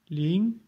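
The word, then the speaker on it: 零: Il se prononce ling, donc deuxième ton.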